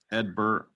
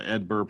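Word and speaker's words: Hedbert: and that is outfielder Edbert Perez. Now, he's got a silent H and a silent T to begin and end his first name, which is kind of interesting. But yeah, Edbert Perez.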